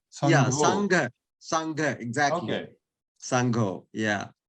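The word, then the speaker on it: saṅgho: the GH, you know, GH, you pronounce as ho, but actually GH is a syllable in Pali. It is not ho, but go. Sangho. Yeah, Sangho.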